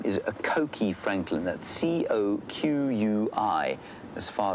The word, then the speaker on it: coqui: Coqui francolin, and it's an onomatopoeic name.